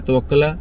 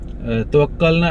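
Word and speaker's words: Tawakkalna: इसके अलावा आपको रजिस्ट्रेशन के लिए क्या करना है, एप्लीकेशन है तवक्कला, इट्स नेम तवक्कला, आई थिंक तवक्कला, मेरी शायद प्रोनाउंसिएशन हो सकती है तवक्कलना, सॉरी तवक्कलना एप्लीकेशन का नेम है।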